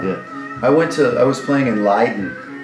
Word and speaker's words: Leiden: I was playing in Leiden. Leiden, yeah.